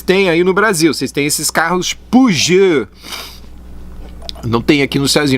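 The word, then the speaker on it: Peugeot: estado quase não existe puji é é a pronúncia francesa gil e nem se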